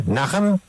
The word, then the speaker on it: Najem: Ella se llama Martine Najem. No sé si estoy pronunciando bien el Najem. N-A-J-M. Najem. Martine, I'm pronouncing okay your last name? Najem?